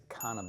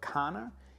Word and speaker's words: Carner: Okay, so Carner is a Spanish brand based in Barcelona. Say it like the Spanish, and their fragrances are just incredible.